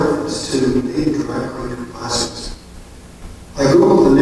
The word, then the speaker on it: placer: So next question, what's a placer? And how do you pronounce it? The answer, as I also discovered through Google, in the context of mining, is like gasser, placer.